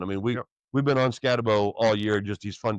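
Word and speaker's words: Skattebo: People say Scataboo. That's not how it's spelled. Bo. It's Scatabo.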